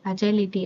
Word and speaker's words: agility: இதை வந்து நம்ம அஜைல், அஜைலிட்டி அப்படி தான் ப்ரொனவுன்ஸ் பண்ணணும்.